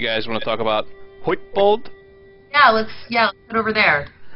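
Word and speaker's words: Hytbold: want to talk about Huitbold? Yeah, let's head over there. It's a very poor Swedish impression by me, but. Yeah, Huitbold. Huitbold. So yeah, it's internally we pronounce it Heitbold, but who am I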